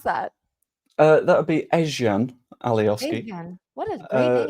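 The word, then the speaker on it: Ezgjan Alioski: How do you even pronounce that? That would be Ezjan Alioski.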